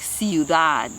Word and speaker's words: ciudad: tools the other rule is if it ends in a consonant other than SN n then you stress the last syllable like Ciudad C that means city